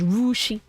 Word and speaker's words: Russia: am no longer coing Russia Ohio is pronounced rushi No it should have